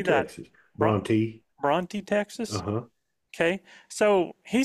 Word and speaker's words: Bronte: Bronte, Texas.